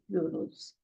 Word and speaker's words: Euro: Because whenever EU comes together in German, the combination, it is pronounced as eu.